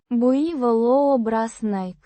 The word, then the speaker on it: буйволообразный: Буйволообразный. With stress on the third syllable.